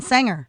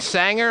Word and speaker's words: Sanger: the Air Ken yes born and raised and Sanger am I pronouncing it right first of all correct sanir it's Sanger Middle School born and raised born and raised